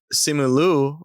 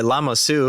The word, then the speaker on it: Simu Liu: I think that Simu Liu, or as Dylan always like to say, Lama Su, because he always says the name wrong.